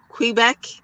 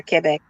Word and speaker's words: Quebec: say queen, they'll say Quebec. It's not quee. It's not like queen. It's ke. Q U E is que. So, we're we're Quebec. I've been saying Quebec.